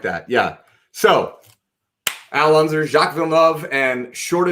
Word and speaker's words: Jacques Villeneuve: That was Jacques Villeneuve. Villeneuve. Tell me how to pronounce it. Jacques Villeneuve.